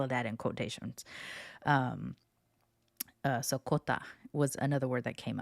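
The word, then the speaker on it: クォーター: Kota is not unlike hafu in that it's really just the English word for quarter pronounced in a Japanese way and has been adopted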